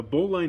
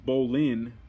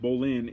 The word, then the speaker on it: bowline: slip knot bowline knot the boli knot pronounced bolin all right bolin is one of the